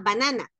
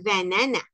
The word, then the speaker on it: banana: mucho porque decimos a banana y en inglés está escrita Exactamente igual pero no se pronuncia igual porque en inglés vamos a decir banana banana banana banana banana